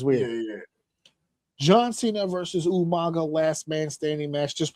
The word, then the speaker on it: Umaga: himself, John Cena versus Umaga, or as Will Rodriguez would say, Umanga. Umanga. Did he really say that? He did. He like unironically, like he just couldn't say it right.